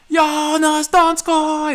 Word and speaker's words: Donskoi: saw you in his donskoi score that winning goal he says don scott and this is shark's voice and so i learned how to say it like that so i just instinctively